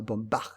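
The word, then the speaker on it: Baumbach: dans l'univers de Noah Bombard je vais le prononcer comme toi l'allemand voilà il a fait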